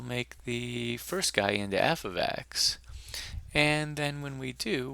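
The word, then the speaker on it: f(x): looks a bit like this and this is pronounced uh f of x and what it means is is that uh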